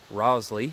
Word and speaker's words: roezlii: The ribes, probably Sierra gooseberry, in which case it would be ribes rosli. I think that's how you pronounce it. R-O-E-Z-L-I-I.